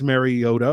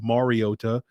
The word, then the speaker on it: Mariota: Now, I've seen Marcus Mariota or Mariota, for those of you that want me to pronounce it the correct way or whatever. I'm going to call him Mariota.